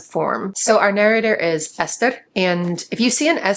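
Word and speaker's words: Eszter: And going back to SZ, that's why this narrator's name is pronounced Ester.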